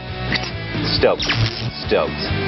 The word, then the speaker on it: stoked: ป็ น ked อ่ า น ว่ า stoked are you stoked ตื่ น เ ต้ น